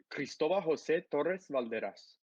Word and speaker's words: Cristobal Jose Torres-Valderas: Say your full name for us, because it's just I'm gonna give you the very Hispanic way. It's Cristobal Jose Torres-Valderas.